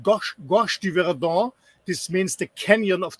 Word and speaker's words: Gorge du Verdon: It's called Gorge du Verdon.